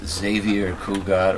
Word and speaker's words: Xavier Cugat: How could things that begin with the letter X be pronounced like a Z? Like Xavier Cugat or Xanadu.